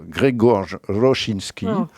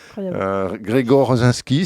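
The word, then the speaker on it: Grzegorz Rosiński: Il est dessiné par un dessinateur polonais qui se prononce Grzegorz Rosinski, Grzegorz Rosinski si vous voulez en français, qui apportait au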